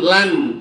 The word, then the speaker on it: لن: إنك لن إخفانيا إخفانا لن bukan lang ya lang تخرقه تخرقه ya di paling tinggi-tingginya tenggorokan. Innaka lan lan lan bacanya lan lan takhriqal arda wa lan